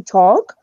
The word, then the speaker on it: talk: to do this mistake when you say talk or walk remember not to use the o yell completely disappears from the pronunciation so you say talk or you say walk Noel that's it so